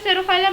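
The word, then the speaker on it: Pterophyllum: beta fighting fish and pterophylum which is uh pronounced as stereophylum but its spelling is p t e r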